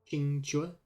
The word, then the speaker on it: Qingque: Qingque. Qingque. I mean, it should be simple, right? The Q's pronounced like a CH sound. Qingque.